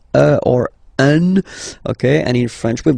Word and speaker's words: un: Of course, after that you will master it without any problem and without any doubt, but you've got to pronounce it like un.